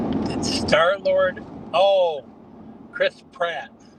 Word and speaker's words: Pratt: Got to pronounce it right. It it is crisp rat crisp rat. Chris Rat. No, here here. Let me I'll put it in the chat. I said Pratt P R.